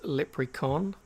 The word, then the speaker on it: Lepricon: name that leprechaun um kind of sounds like leprechaun but it's lip recon uh and the webs